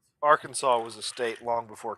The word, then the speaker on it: Arkansas: I laugh because Arkansas doesn't do any better. Well, you have an entire letter you don't even pronounce.